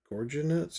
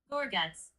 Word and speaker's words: Gorguts: Um, Gorge, Gorgonuts? I hate this. Um, oh shoot. At least I found the picture of them. Gorguts.